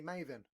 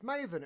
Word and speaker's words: Maven: i call him danny mavin all time yeah i could go danny maven and he's like no it's maven it rhymes with raven and i'm like yeah